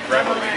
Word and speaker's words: Reveille: You pronounce it... Reveille. We're at the Reveille Cafe where we had lunch with them.